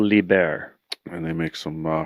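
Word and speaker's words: Liebherr: terrain all right i don't know how to pronounce this company the bear it's lieber yeah libya or german owner there's a german company called liber and they make some uh quality equipment rough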